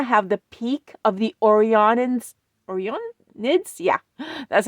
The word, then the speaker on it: Orionids: we're going to have the peak of the Orionids, yeah, that's how it's pronounced, meteor shower, which produces up to 20 meteors per hour.